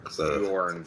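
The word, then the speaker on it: Jørn: For some reason, every other country but the United States doesn't pronounce J, so everything's a J is a Y.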